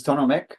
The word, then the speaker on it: Tonu Mikk: that ques a group groups so hopefully I pronounced your name correctly oh wonderful thanks Colin yes my name is tono Mech I work in a disability Resource Center and